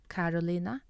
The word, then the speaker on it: Carolina: So Carolina has a K sound, Carolina, and Cecilia has an S sound.